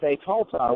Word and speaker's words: Betolta: And then there's Betolta, which is essentially what you would say the virgin soul, or that ta sound at the end genders it.